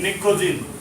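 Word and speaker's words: pnicogen: इसको P silent निकोजिन, इसको बोलते हैं निकोजिन, क्योंकि ये चॉकिंग प्रॉपर्टी शो करता है।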